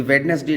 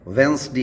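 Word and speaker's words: Wednesday: ये वेडनेसडे नहीं होता है, वेंसडे इसको बोला जाता है।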